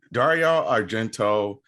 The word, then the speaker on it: Dario Argento: So Dario Argento and Giallo horror films. And I just want to say that the little pronunciation thing that I played was doing like a real authentic thing.